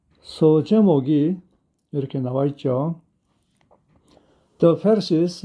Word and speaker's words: Pharisees: The Pharisees investigate the healing. 그 페르시스들이, 이 발음은 F 발음이고요.